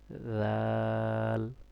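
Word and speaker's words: ذال: কিন্তু কি? আরবিটা উচ্চারণ হবে। জাল আপনার নরম হবে। আপনার জিহ্বাটা দাঁতের আগা থেকে আসবে।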